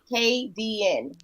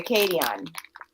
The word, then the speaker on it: Kadian: My name is pronounced KDN, like KDN. But if you're Jamaican, you say Kadian.